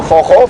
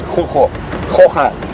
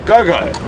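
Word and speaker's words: gogo: It's quite an interesting spelling, because I think if you had to say it how you would think it was said, it would be a go-go. It is spelled G-O-G-O, and obviously with a lot of us having a bit of Afrikaans influence and whatnot, that sound with the G is from the Afrikaans language, so it's a chocho or a chocha.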